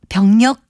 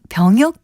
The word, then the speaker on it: 병역: 무리를 일으킨 사람도 있었는데요 이러한 비리 역시 군 병력 비리가 아니라 군 병역 비리라고 발음하는 것이 맞습니다 바른말 고운 말 아나운서